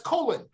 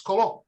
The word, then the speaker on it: Colon: name all right so people say that's not cologne that's colon i said no no no it's it's it's spelled like the intestine but sounds like the fragrance colon so uh in that